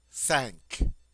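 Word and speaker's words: cinq: from the back of the throat C five sank sank sank notice we have a q without a u at the end and also this has a nasal sound sank sounds like you're saying the English word s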